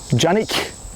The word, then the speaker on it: Canik: Now, Canik is a small town outside of Samsun, Turkey, which is a bigger town, and Canik is actually pronounced Canik in Turkish.